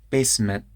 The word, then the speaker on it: basement: took out the garbage basement there's a glottal stop instead of a t basement and took